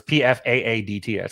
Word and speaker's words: Pfaadt: It's Pfaadt.